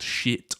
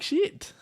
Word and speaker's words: Schiit: But the amp company are called Shit Audio. It's spelled SCHIIT, but it's meant to be pronounced exactly as you would imagine it.